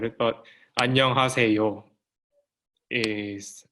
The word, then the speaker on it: 안녕하세요: So as she said, I don't know who said it, but 안녕하세요 is how you pronounce it.